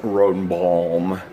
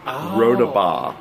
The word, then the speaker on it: Rodebaugh: It's not Benign Rodenbaum. It's Benim Rodebaugh.